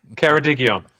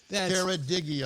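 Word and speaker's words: Ceredigion: Keradigion. Keradigon. Just like it's spelled.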